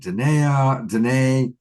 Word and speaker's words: Danae: Tonight we added Danae, rhymes with Renee.